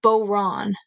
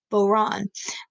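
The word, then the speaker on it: bodhrán: so I move my mouse over but that's pronounced boron boron and we'll talk about what that is in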